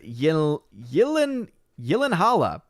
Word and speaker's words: Gyllenhaal: very good point uh liquid blake says yellow holla oh oh that's right because of the correct correct way of pronouncing gyllenhaal but i will call him gyllenhaal liquid blake he says that's how you say jake's name we've been through this